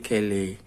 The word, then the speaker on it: Caillat: adalah CD dari Qolbi Kelley dibacanya kilih yakolbi kali jadi dia ini populer